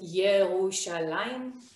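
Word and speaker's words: ירושלים: this is tel aviv jerusalem we pronounce it yerushalayim this is beersheva which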